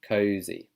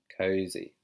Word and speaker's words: cozy: Z. There's a Z sound. Cozy. Cozy. Oh, not cozy. Cozy. So maybe take some time to practice that.